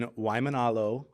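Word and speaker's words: Waimānalo: did it right yeah you just got to pronounce every single vowel even if there's three A's in a row you got to pronounce you got to sound them all out um I I want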